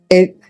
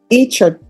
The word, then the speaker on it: Echa: How do you pronounce it? Echa. Echa. Okay, Echa. All right, court is calling 2024 CR 1497, State of Texas versus Gabriel Echa.